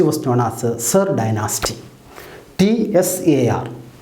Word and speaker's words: Tsar: T-S-A-R, but the pronunciation Tsar dynasty.